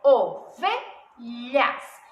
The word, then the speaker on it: ovelhas: Qual será a sílaba tônica? Lembrando que é a penúltima, então, a sílaba tônica é V. Ovelhas. Então, ovelhas é uma paroxítona e ela não é acentuada.